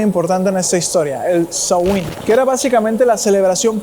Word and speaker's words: Samhain: Es así pues que se crea algo conocido como el samaín, que no se pronuncia de esa forma, en realidad tiene una pronunciación extraña. Es como sain, sain, algo así.